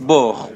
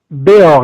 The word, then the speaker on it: Beaur: Bor, bonsoir. Bonsoir. Je prononce bien votre nom, c'est Bor ou Bor? Béor, il y a un accent.